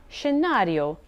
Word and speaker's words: scenario: s c for example s c plus e or i equals a soft shi sound for example she for ski scenario for scenery view or